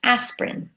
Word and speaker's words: aspirin: take for headaches aspirin but the spelling it looks like as per in with three syllables but we say aspirin with two syllables so we squish that word together with a silent I in there squeezed in there I see some of